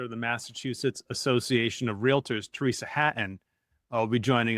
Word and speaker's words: Realtor: And there is a difference between being a realtor, which rhymes with Skeletor.